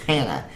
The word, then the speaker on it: Johanna: for hers, which is Hannah. So she said her name was Johanna, but the J was silent. So it was just Hannah.